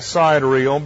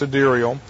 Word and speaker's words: sidereal: the notes say delial looks like SideReel but it's pronounced sadirial sidereal periods are the